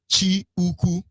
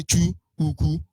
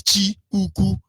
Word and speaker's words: Chukwu: Chi Uku, because you can say Chu Uku, or we would regularly pronounce it as Chu Uku, CHO. But the real thing is Chi Uku, which is CHI.